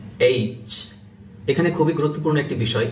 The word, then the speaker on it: H: এটা হল জি শক্ত করে বলুন একটু জি এইচ এখানে খুবই গুরুত্বপূর্ণ একটি বিষয় এইচ এই লেটারটি দেখুন এই লেটার বা ক্যারেক্টারটি আপনার অনেকে আমরা উচ্চারণ করতে পারি না।